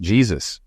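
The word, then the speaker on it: Jesús: to steal I questioned it's pronounced Jesus we like your common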